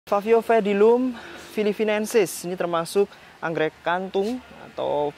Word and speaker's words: Paphiopedilum philippinense: Sobat sekalian, ini adalah sosok dari Favio pedilum filipinensis ya. Favio pedilum filipinensis. Favio pedilum filipinensis. Karena P sama H itu bacanya harusnya fa gitu ya. Favio pedilum filipinensis.